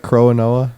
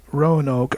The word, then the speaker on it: Roanoke: How do you spell that? Croanoa? It's Roanoke, Roanoke.